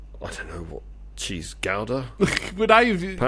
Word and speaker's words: Gouda: You could do giant um I don't know what cheese ga apparently it's pronounced ga not gouda. Oh is it really? If you ask the Dutch they go it's ga it's not good.